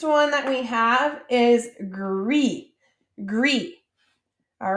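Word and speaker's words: gris: red all right and so this one is pronounced like rue and then je all right our next one that we have is gree gree all right and gree might be kind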